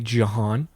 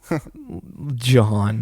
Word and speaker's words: Jahan: It's with an H after the J, so it's literally Jahan. Jahan.